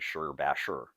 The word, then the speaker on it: Shibashi: Some were arguing that the actual pronunciation is closer to Shur Bashur. But the three times that I've been introduced to this particular set, or this approach to Qigong, each of the three instructors pronounced it Shibashi, and most of the stuff you find out there on the internet, and it's on the internet, so it has to be correct, right? Use the pronunciation Shibashi.